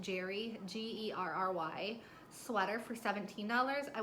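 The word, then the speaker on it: Gerry: I sold a Gary, maybe it's pronounced Jerry, G-E-R-R-Y, sweater for $17.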